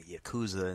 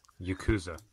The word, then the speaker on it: Yakuza: yeah yeah yeah yeah it's because Japanese the way they work is the what's it called vowels are never pronounced differently everything should be pronounced the same so those are always oh you know hey is always a so right ya KU zhu